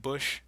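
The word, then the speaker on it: Busch: so you ever thought about how you don't pronounce like the C in that bush yeah see C is right just say bush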